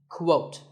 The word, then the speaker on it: quote: is the word quote this is not pronounced the same as coat the correct way to say it is with a Kua sound at the beginning quote similarly we have quotation